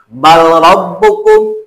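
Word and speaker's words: بل ربكم: Bal rabbukum dibacanya bal rabbukum.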